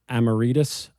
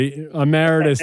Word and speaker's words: emeritus: sold he is a professor amorus I probably butchered that I'm sorry um but a Meritus thank you Mark um he taught